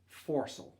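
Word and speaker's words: foresail: pronunciation guide for you in all the names that end with the word sale pronounce that as saul so it would be like mainsult forcel the third sail from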